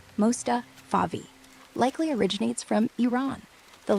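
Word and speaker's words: Mostafavi: Last name Mustavi. M O S T A F A V I. Pronounced like Mustafa Favi.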